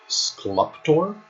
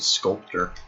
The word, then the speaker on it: Sculptor: well too late now onto skluptor pronounced it sculptor i guess i guess i've always been misreading it excellent job on that